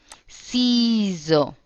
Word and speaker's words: ciseaux: Tu me passes les ciseaux, s'il te plaît. Otra nueva palabra. Ciseaux. La C como una S. Ciseaux. Entonces, tu me passes les ciseaux, s'il te plaît.